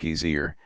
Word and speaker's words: geyser: high above the waters the geyser a word the icelanders pronounced gizer and which signifies Fury Rose